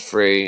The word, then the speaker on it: Ptah: Turns into a white bull or an apis, which turns green into the Osiris bull, which is the pronounced Frey in Egyptian, but spelled Ptah.